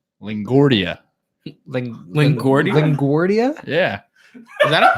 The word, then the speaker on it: LaGuardia: or- Yeah, LaGuardia is how it's That was pronounced.